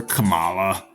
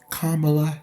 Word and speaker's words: Kamala: have a problem with Kamala I mean you've pronounced her name correctly you're not calling her Camala or Camila or camela you're calling her by her appropriate name kamla Harris a beautiful name for a lovely woman